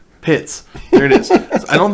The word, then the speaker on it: Pitts: His name rhymes with tits. Pitts.